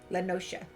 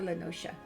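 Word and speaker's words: La Noscea: The man you are looking for is believed to be a resident of the Grey Fleet in Lower Lenosha. Lower Lenosha.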